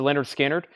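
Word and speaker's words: Lynyrd Skynyrd: on pink vinyl $28.99 Leonard skinnard pronounced to Leonard skinnard $ 36.99 also Collective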